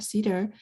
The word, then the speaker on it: CETR: So this term can be abbreviated as CETR and pronounced as cedar as in cedarwood.